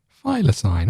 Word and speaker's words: thylacine: heard of it how do you say it thylacine file a sign okay well there you go uh there you